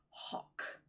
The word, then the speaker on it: hough: And finally, we have an OUGH sound. For example, lock and hock.